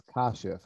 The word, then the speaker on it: Kashif: landing on on and i'm pronouncing it right it's kashif i made a note of that instead of chief so my apologies because